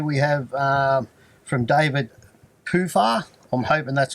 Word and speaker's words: Puha: it's spelled Puha, but it's Poofer. a Maori name.